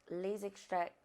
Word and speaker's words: Les Extraits: And I just have to keep it real with y'all because the Les Extraits, yeah, that's how you say it. It's very French.